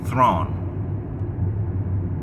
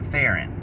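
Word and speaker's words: Theron: Charize got on TV and she said that her name is something like throne, but the American version is the hello. It's your name. Is it throne or is it Theren? Well, according to her, it's both.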